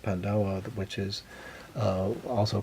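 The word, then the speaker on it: paj ntaub: the traditions in M Life uh namely the pandaa that's not spelled that way but that's how it's pronounced pandaa which is uh also called the history cloth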